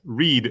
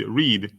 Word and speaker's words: read: For instance, read, read, read. It's the same spelling, but the pronunciation changes.